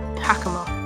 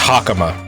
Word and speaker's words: hakama: I say it wrong technically it's pronounced hakama hakama uh all Japanese words will make the ace the the a sound sound like ah so it's hak all vowels are consistent in in Japanese